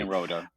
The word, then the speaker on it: Nyenrode: So the E, there's a little bit of an inflection at the end there, correct?